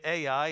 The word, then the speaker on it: Ai: I know in the Hebrew you might pronounce that I, but I grew up pronouncing it Ai, and so I'm going to keep on doing that if you don't mind.